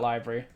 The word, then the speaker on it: LBRY: But my crypto income is coming in from library.